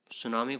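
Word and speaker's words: tsunami: पूछ सकते हैं तो टी एस यू एन ए एम आई यहां पर सुनामी की स्पेलिंग होती है ये टी यहां पर साइलेंट रहता है आपको छोटी क्लासों में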